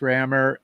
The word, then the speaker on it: Rammur: i figured no problem it still can be pronounced rammer and because it's kind